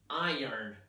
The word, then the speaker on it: iron: I tell them that the right pronunciation is iron Iron Man is the right sound for this word many of my students